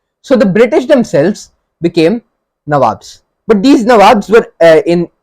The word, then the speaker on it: nabob: the british themselves became nawabs but these nawabs were in england they were referred to as which was an anglicized pronunciation of the word nawab and these nabobs as we as they